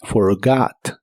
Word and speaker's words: forgot: es un verbo irregular la última o de esta palabra se pronuncia como una a profunda forgot forgot en el pasado puedes